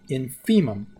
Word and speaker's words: infimum: uses this the infimum of a this is pronounced infimum now could and infimum is Latin it means